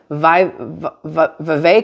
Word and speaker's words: Vivek: santis Nikki Haley and vi v or VI ramaswami I can never say his name right um I just know that it rhymes with cake that's all I remember